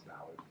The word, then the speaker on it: Ballard: you can guess it it rhymes with a waterfowl and it starts with beat rhymes with a water